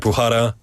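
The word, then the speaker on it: Bukhara: But yeah I've noticed that I guess sorry in Usbekistan if there's a KH like in your name it you don't pronounce the K. It's almost like a Yeah. Like Bhara and your name is Sioaton.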